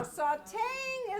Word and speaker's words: sautéing: Now, sautéing is a special case. That's a French word, and the rule is that we drop the silent E of grate and slice, but the E in sautéing is not silent.